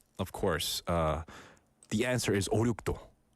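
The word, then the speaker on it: 오륙도: 발음 제대로 하면 5, 6도.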